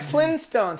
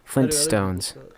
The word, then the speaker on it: Flintstones: flintstones with a t flintstones most people forget the t they spell flintstones well it's because most people don't pronounce t's flintstones flintstones um oh